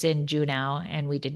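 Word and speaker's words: Juneau: Is it Juno? Is that how you pronounce it? Is that not how you pronounce them? I don't know. I think I always thought it was Uno. Uno. But obviously it's not.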